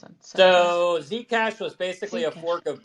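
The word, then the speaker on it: Zcash: folk of said cash or how do you pronounce it so Z cash was basically a fork of Bitcoin we forked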